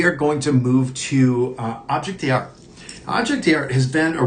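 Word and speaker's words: objet d'art: It's like Object d'Art is how you say it, I believe. So very, very just kind of not as bold as how we say it here in the US.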